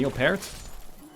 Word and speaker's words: Neil Peart: As does every concert now, according to Neil Peart.